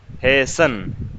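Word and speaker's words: hasten: شن نہیں ہے وہ، ہیسن، ہیسن، ہیسن ٹو پریئر.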